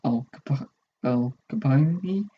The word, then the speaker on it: Al Capone: The lyrics deal with gangsters and made a reference to Al Capone.